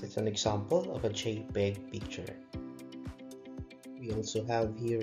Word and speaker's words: JPEG: of pictures first is the that jpg or pronounced as JPEG and is short for JP or joint photographic